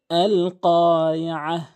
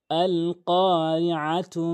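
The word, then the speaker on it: القارعة: এখানে কফটি জিহ্বার গোড়া থেকে উপরের তালুর সঙ্গে ধাক্কা দিয়ে উচ্চারণ করবেন।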